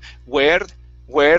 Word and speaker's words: where: So instead of where the sun, it's where. Push your tongue down for that R.